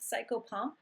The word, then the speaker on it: psychopomp: And Mercury was a psychopomp, or some people pronounce it psychopomp, which is a messenger between the gods and humans.